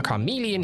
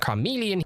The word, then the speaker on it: Charmeleon: So if I go ahead and level up our Charmeleon here. That's not how you pronounce that. Charmeleon.